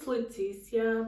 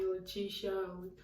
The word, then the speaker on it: Leticia: candy so let's start so my name is leticia but some people call me latisha with this yeah something like that but i